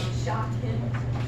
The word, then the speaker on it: Shakim: Is your name spelled like shock him?